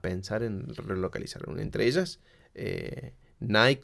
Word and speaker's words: Nike: en relocalizar entre ellas Nike como decimos aquí Nike o Nicki como me dijeron que en realidad se pronuncia la marca de ropa